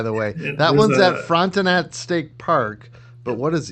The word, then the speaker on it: Frontenac: Frontenac, yep. Yep. Us Americans, we say Frontenac. I'm sure the French or somebody else would say something different.